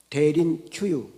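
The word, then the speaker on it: Derinkuyu: 대린 큐유라는 곳을 다녀왔다는데 대린 큐유 때로는 대린 구유라고도 발음하는데 그곳은 로마 카타콤과 같이 그 땅을 파고 그 땅 속에 지하도시를 만들어서 기독교 박해를 피해 살았다는 것입니다.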